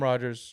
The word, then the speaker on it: Rogers: This is Rogers. Yes, it does rhyme with Dodgers.